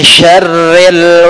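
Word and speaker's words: شَرِّ: Maka kemudian Allah SWT berfirman, min syarril waswasil khannas. Min syarri, dibaca tipis, tidak ditebalkan, tidak bacanya syar, ya, tapi langsung tipis, syarri, ri, ya, syarril waswasil khannas, min, dari syarri, kejahatan atau keburukan, al-waswas, al-khannas.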